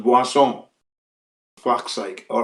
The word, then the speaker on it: Boursin: The brand is known as Boisson. That's the pronunciation. When you look at the word, if you read it in English, it's like Boursin. Boursin. I think it's Boursin, something like that. But it's pronounced Boisson.